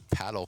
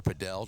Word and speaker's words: padel: They also have paddle courts or padel, depending on what part of the world you are in and how you want to pronounce it, but that will be